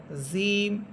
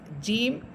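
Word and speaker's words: ج: অনেকেই জিহ্বার আগা দিয়ে বলেন জিম জিম এটা ভুল উচ্চারণ। জিম এটা জিহ্বার আগা বা অগ্রভাগ দিয়ে উচ্চারণ হবে না বরং জিহ্বার মধ্যখান তার বরাবর উপরের তালুর সাথে লাগবে এবং জিম হরফ বলার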